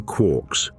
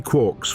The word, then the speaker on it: quark: Three quarks for muster mark, the line read, a drunken cheer, a fractured poem. Gellman pronounced it to rhyme with fork, despite Joyce's original line clearly suggesting it rhymed with lark.